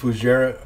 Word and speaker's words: Fougère: what the hell I called it but it's pronounced fujairah for sure what was it for Jeff okay